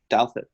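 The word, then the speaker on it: Douthat: Douthit.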